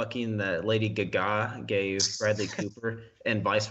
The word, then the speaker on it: Gaga: conspiracy theory started that Bradley Cooper and Lady gaga I know it's pronounced Gaga but were pretentious on the show